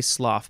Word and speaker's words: slough: life shed and sloth I'm gonna say sloth because I'm pretty sure that that's how you say it s-l-o-u-g-h shed and sloth imply